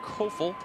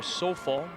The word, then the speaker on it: Sofal: Up the middle, the fullback, Brent Kofel, makes the carry. Sorry, Sofal is the correct pronunciation for Brent's name.